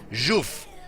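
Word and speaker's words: Żółw: Muradin, and this guy, Juf on Malfurion. Rutzov, it's how you write it, but apparently you pronounce it as Juf, and it means turtle, but only if you apparently misspell or mispronounce it.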